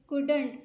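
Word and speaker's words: couldn't: शी वो, कुडंट कुड सकती थी, कुड सकती थी, नहीं नॉट नहीं, तो इसको मिला के लिखा गया तो हमको कुडंट पढ़ेंगे। उसमें एल की आवाज़ नहीं निकलेगी, साइलेंट है।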